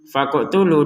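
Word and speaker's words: فَاقْتُلُوا: Faqotulu. Di sini kita bacanya dengan pantulan ya. Faqotulu. faqtulu. Jadi jangan sekedar faqtulu faqtulu enggak ada pantulannya kan. Jadi ini harus dipantulkan.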